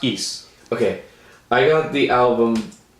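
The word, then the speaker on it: Ys: got recommended the album is it just yes or is it it's pronounced ease okay i got the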